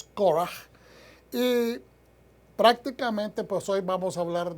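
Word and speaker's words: קורח: el nombre core como se traduce en español, pero la pronunciación en hebreo es coraje.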